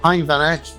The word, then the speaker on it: Hein van Eck: So on tour, on set, here at the exhibition, I'm joined by Hein van Eck. Have I pronounced that correctly, Hein?